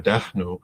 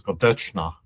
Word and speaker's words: Gadêhnu: But uh it's in Tuscarora Gadêhnu. In the northern village pronunciation is Gadêchna. And that's how the name ended up getting recorded that way.